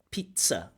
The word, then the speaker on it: pizza: It has a t, s, pizza with a t, s, pizza.